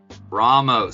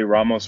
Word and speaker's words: Ramos: Ramos. So we've been saying it wrong this whole time, huh? Nah. People either say Ramos or Ramos. It's either or.